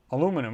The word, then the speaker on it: aluminum: uh maybe they built everything out of uh aluminum or aluminium depending how you want to pronounce it uh you don't know i mean